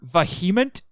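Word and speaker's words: VHEMT: Have you guys ever heard of the Voluntary Human Extinction Movement, or Vehement? That's actually how they want the name pronounced.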